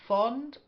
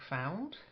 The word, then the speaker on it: fond: s okay bachelorhood uh fond not like found and drove V drove